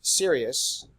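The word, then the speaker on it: Sirius: sequence star if we looked at Sirus and that's how you pronounce that shirely can't be serious I'm serious and don't call me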